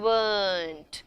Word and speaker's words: weren't: Think R is silent, and weren't.